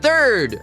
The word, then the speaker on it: third: Agora tamo pronto para dizer third.